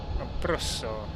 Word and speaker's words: Abruzzo: Abruzzo. That's how you say it, in my best Italian accent.